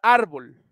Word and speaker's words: árbol: okay entonces acá tenemos la palabra árbol árbol tenemos la sílaba tónica en ar De hecho tiene el